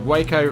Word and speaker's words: Waco: The Waco rhymes with taco or taco.